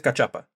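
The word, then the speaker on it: cachapa: There's no accent mark over the sea of the age, so I don't think it's Kashapa. I think it is Kachapa.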